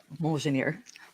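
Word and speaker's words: Mjölnir: Did I pronounce it correctly? I think it's Mjolnir, isn't it? Mjolnir.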